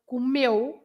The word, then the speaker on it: comeu: So comeu. You say meu. The stress is on meu, not comeu.